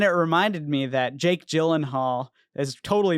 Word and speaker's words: Gyllenhaal: Actually, it's pronounced Gyllenhaal, or I mean, whatever you said, Jilly-golly-oo, or whatever.